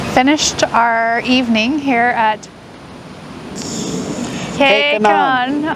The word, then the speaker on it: Q'Kenan: We have finished our evening here at K-Kenan. I wanted to say Q again.